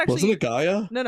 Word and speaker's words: Gaia: Uh but yeah, Gaia.